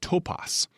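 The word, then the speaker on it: τόπος: Now, that word place, it has at its root a word pronounced topos.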